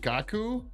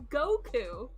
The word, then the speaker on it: Goku: do you pronounce it is it gakku no okay what what is it it's goku go it's go goku okay well it was